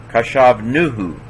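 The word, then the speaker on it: חשבנהו: Kashav, nuhu. Because the accent's on the nu, with the kaboots there.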